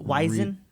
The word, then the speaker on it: Weizen: So it's spelled with a W, but since it's a German word, a W is pronounced as a V.